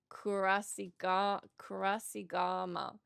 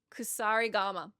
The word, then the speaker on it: Kusarigama: particular the, oh man, I want to say Kurasigama. Kusarigama. When I got the, I've not said that right. Not even once in the 80 hours I was playing Ghost of Yotei. The Kosarigama, did I say it wrong again?